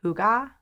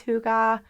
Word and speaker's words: hygge: Okay, so they have this term, and I don't know if I'm pronouncing it correct, but I think it's pronounced hygge.